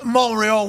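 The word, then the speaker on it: Montréal: were you in montree they don't pronounce the tree the the T when you in Montreal last night mreal we we Chuck we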